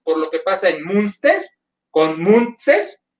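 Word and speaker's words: Münster: Munster como monstruo. Munster.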